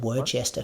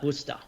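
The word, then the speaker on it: Worcester: on as well but I'm pretty sure that's Worster I've got a couple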